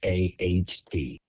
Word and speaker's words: Pfaadt: I think it's like FAT, like Fott. FAHT, I'm from Pennsylvania, FAHT. so sometimes I have issues.